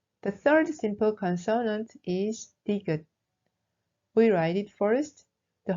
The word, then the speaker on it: ㄷ: The third simple consonant is 디귿. We write it first, the horizontal line above, from left to right, then the rest is like 니은, all at once. It is pronounced d, like deer in English.